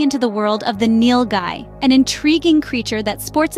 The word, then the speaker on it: Nilgai: today we're diving into the world of the Neil Guy an intriguing creature that Sports enthusiasts might not be familiar with the nil guy pronounced Neil guy is the largest antelope in